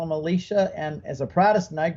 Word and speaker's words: Elisha: or did he say Elisha so we did the uh Catholic pronunciation but my wife had to keep saying cut cut you said Elisha you got to say Alicia so we'd have to do